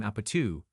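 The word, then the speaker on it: 아파트: It takes both its name and its post-chorus from the classic Korean drinking game Apatu, pronounced Apatu.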